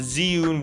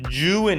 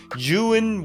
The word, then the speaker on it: Zhiyun: another look at the zhiyun weeble lab or joon is actually how it's pronounced properly june weeble lab after shooting